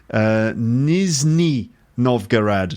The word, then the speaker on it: Nizhny Novgorod: then I'm sorry okay Nizhny Novgorod not Mizuki why did I say Nizhny Novgorod on the podcast the other day I don't know no idea why but anyway Nizhny Novgorod of course by the